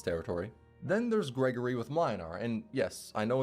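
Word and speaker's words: Mlynar: Then there's Gregory with Minar. And yes, I know it's pronounced Muinar, but I do not care.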